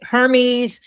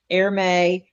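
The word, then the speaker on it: Hermès: Her Hermes airme depending on where you are and who you are will depend on how you pronounce it.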